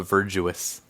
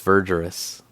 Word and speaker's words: Verdurous: I always I always want to call it Virtuous, but I think it's Verus. Verus cuz it's like green, right?